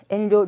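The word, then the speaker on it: 遠慮: 자, 첫 한자 엔료라고 있죠. 엔료, 료자가 짧습니다.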